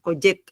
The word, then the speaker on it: Collet: Yo entiendo que la doble L en el es tal cual como la pronunciamos nosotros, Coyet.